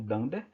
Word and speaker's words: dunder: Não precisa entender muito bem sobre ela agora, mas basicamente basta você colocar if dunder name, esse double underline a gente pronuncia como dunder.